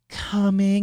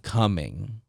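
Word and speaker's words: Cumming: a real place and it's not even just spelled like c-o-m-i-n-g like the word coming it's spelled c-u-m-m-i-n-g like like coming coming and i see the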